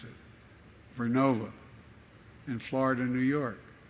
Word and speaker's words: Vernova: I mispronounced it. Vernova in Florida and New York.